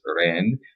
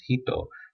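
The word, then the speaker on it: 人: in the slide means person and Chinese you pronounce it as Rand but in Japanese you pronounce it as hito um although there sounds completely different same um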